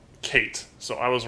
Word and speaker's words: K8: Okay, Kate, pronounced Kate again, donated and said K8 is pronounced Kate.